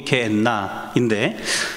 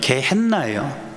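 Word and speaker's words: גיהנום: 그러니까 예를 들면 우리가 트럭이라는 영어를 한글로 그대로 트럭 옮겨 적는 것처럼 히브리어에 있는 단어를 그대로 소리나는 대로 옮겨 적어놓은 게 게엔나인데, 그럼 히브리어의 원래 발음은 뭐냐면 게헨나예요. 더 정확한 말은 게벤헨나예요.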